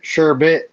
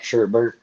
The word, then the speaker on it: sherbet: it's sherbet. Apparently I've been saying it wrong for all these years. People say it's sherbet, not sherbert.